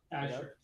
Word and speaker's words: Azure: So yeah, like FA alluded, like majority it's coming from, how do you pronounce it? Azure or Azure? Azure.